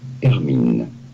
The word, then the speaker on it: Hermine: It'd be fine in English to say it as Hermine. Hermine. From Hermine. French. Hermine. And now you know. Here are more videos on how to pronounce more interesting. Hermine. The H is silent.